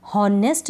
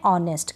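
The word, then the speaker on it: honest: बोलेंगे नहीं पढ़ेंगे नहीं जैसे कि नेस्ट नहीं पढ़ते हैं इसको पढ़ते हैं ऑनेस्ट क्या पढ़ेंगे ऑनेस्ट एच इसमें साइलेंट रहता है जैसे हनर नहीं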